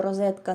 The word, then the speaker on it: розетка: Розетка якщо розібрати слово розетка на морфеми його корінь як і корінь слова роза буде роза Отже правильна вимова цього слова Розетка варіанти розетка розетка розетка розетка і подібні неправильні але яке відношення має